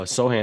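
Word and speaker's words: Sochan: um or jeremy uh he pronounced his last name joe johann sohan uh sohan at the at the uh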